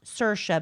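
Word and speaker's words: Saoirse: Cersa, which is the hardest name in the world. Yes, it's pronounced Cersa, but it's spelled S A O I R S E.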